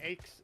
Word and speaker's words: Aches: And make sure I'm saying it right. Is it Aches? Am I saying it right? Yeah.